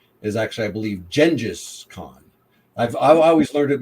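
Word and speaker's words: Genghis Khan: guess the pre I'm sorry the um correct pronunciation is actually I believe Jenis con I've I always learned it my entire life as genghiskhan so I still that but I believe the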